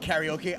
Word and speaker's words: karaoke: You can call it karaoke. I like to pronounce it properly, karaoke.